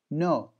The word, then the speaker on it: know: There is K, but the K is silent. And this is the rule, when K of come when there is N and comes K before it, the K will not be pronounced.